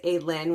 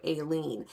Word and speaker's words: Aelin: Another one that I have mispronounced in the past is Aelin, which I sometimes will go to Aileen.